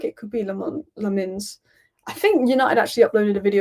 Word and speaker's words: Lammens: The way you pronounce Lammens is Lammens. Because half the people are saying Lammens. Some people are saying Lammens. Some people are saying Le Mans. And Le Mans just kind of sounds Belgian.